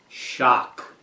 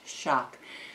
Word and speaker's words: XOC: knife and tool company xoc pronounced shock xoc i don't know that happens but anyway it's the crkt xoc pronounced shock so i'm going to